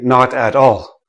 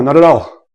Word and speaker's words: not at all: So nobody, like native speakers, don't say not at all. Oh no, not at all. We don't say it like that. We say, oh, not at all. Not at all. Not at all. Right? The T, so this becomes na, ta, tall. Na, ta, tall. Not at all. Okay? Say it quickly. Blend the letters one into the next.